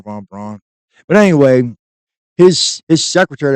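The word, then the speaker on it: von Braun: say is uh Warner Von Bron uh or maybe they pres pronounce it brown I think it's brown Warner Von brown but anyway his his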